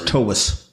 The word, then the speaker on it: Toews: Yeah, like T-A-V-E-S, Toews. It's actually okay. V sound. Slavic? And it is Toews. Correct. Yeah, so it's Toews.